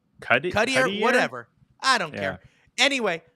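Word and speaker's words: Gauthier: Their first round draft pick of this year, 2023 draft, is Guthier, is how you pronounce his name. Cuddier, whatever.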